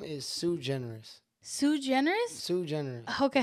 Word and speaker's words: Suigeneris: So, my actual name is Sue Generous.